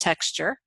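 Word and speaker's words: Tex. Jur.: We are fortunate in that we do have Texas Jurisprudence, the 3rd edition, which is commonly called TexJur, which is pronounced texture.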